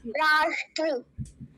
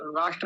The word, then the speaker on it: राष्ट्र: ली संस्कृत में और वो इसको स पढ़ते हैं स राष्ट्र बोलते हैं राष्ट्र राष्ट्र नहीं राष्ट्र श श तो ये जो मूर्धन्य सकार है इसका उच्चारण हमें ठीक से आना चाहिए पूरा शब्द क्या हो